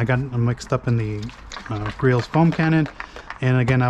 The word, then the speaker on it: Griot's: It's actually Griot's with a silent T.